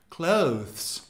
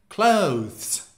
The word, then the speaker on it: clothes: But British people say the TH very slightly. Clothes. Clothes. Clothes? Clothes. Both of them are correct.